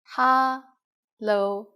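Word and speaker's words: 哈囉: common informal greeting is hallo ha lo just as you can guess hello is just hello with the cantonese pronunciation we use it when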